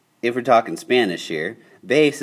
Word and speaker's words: base: we're talking Spanish here base is actually spelled the same in Spanish you just have to say it different Bas all right so here